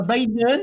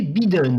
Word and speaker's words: Biden: Parce que moi j'ai compris Biden, avec un joli I bien prononcé. Je me suis dit, ah, ok. Désolé, Bid. non, c'est pas Biden, c'est Biden.